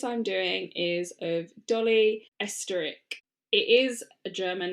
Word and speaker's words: Oesterreich: So, the case I'm doing is of Dolly Esteric. It is a German name, so I am going to spell it and then I'm rarely going to say it again.